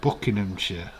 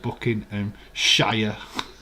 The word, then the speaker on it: Buckinghamshire: in buckinghamshire or what say like americans say james let's say buckinghamshire like america say booking and shire buckinghamshire when i do